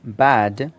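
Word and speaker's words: bad: आर बेड एंड बेड तो बाद मतलब बुरा इसमें बेड नहीं है बेड होता है ठीक है समथिंग इस बाद तो वो समथिंग इस बेड नहीं होता बेड वो होता है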